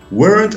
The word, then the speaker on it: weren't: a waiter excellent now weren't and wasn't people usually say weren't as one syllable weren't wasn't has two syllables wasn't okay now listen